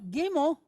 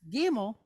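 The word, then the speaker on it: גימל: way or this way, today we just pronounce it like a G. What they call like a soft G, G, right? Not like the G in the word gemstone or gymnasium. They don't have that sound.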